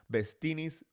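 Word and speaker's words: bestinis: think bestini's sounds fun because bestini's bestini's rhyme with martinis um thank you guys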